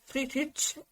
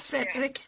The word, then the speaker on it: Friedrich: when I say Frederick but Friedrich is the original German way not Frederick never Frederick but Friedrich or Friedrich but you are doing